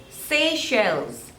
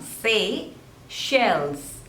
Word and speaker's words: Seychelles: Saudi Arabia next is Seychelles Seychelles Seychelles so there are two labels and the stress is on the second one say shells facials facials Seychelles facials next